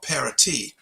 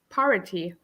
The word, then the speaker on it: Paraty: It's in an area called Paraty. It's a beautiful community. I thought that was Um, parity.